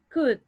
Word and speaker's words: could: job just one thing could the pronunciation of ku is like this could could okay so we are going to omit the letter l could we could go